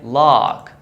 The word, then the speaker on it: lock: The O is pronounced as ah. So I say lock, like lock your phone or unlock your phone.